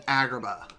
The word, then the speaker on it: Agrabah: as Agrabah no seriously they changed the pronunciation of Agrabah to algebra or something like that it sounds like he's saying algebra rather than Agrabah it was dumb it